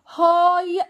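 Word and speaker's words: high: مدرسه ثانويه يعني ايه هاي سكول هاي ال جي اتش ما بنطقهاش هاي سك ول مدرسه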